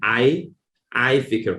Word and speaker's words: i-Fikr: That was the name given to it, and in short, we just call it i-Fikr. Pronunciation is again i-Fikr.